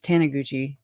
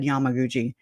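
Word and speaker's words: Taniguchi: it say this is I said his name wrong the other day it's tanaguchi I I think I said Yamaguchi but it's just the fact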